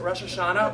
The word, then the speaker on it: Rosh Hashanah: so tomorrow night is Russia shot yes okay am I saying it right is at Rosh Hashanah or Rosh Hashanah well you'd say like rosh hashanah Rosh Hashanah what well